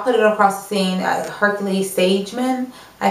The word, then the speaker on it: Hercules-Sagemann: Hercules-Sagemann, I think is how you say it.